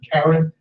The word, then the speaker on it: Karen: K-A-R-E-N, just like the woman's name Karen, but they pronounce it Karen.